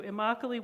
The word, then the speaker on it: Immokalee: not going to say it right thank you Immokalee workers and their allies will embark on a